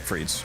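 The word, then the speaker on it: frites: Google image of steak frees and you can just looking at it, you'll make your mouth water. It's fre is spelled f r i t e s.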